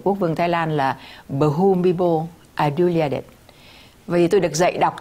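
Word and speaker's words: Bhumibol Adulyadej: đọc tên của quốc vương Thái Lan là Bumibo Adulyadej. Vì tôi được dạy đọc từ hồi đó là Bumibo Adulyadej.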